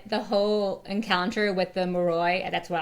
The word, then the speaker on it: Moroi: Yeah, and the fact that the whole encounter with the Moroi, that's how I'm pronouncing the creature thing, Moroi.